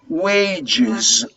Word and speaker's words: wages: salaries by the way when you pronounce wages the final s you omitted yes wages wages are salaries do